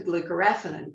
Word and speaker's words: glucoraphanin: The precursor, glucoraphanin, am I pronouncing that correctly?